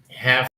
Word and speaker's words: have: Okay, now let's talk about have and has to. Remember, when these words express obligation, the V is pronounced like f. Yeah. Okay, when it expresses possession, the V is like V.